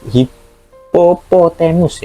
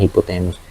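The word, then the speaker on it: hippopotamus: kalau kebanjangan kan hipo Oh sori hipopotemus ya bukan hipotemus hipopotemus kan kepanjangan gitu ya Oke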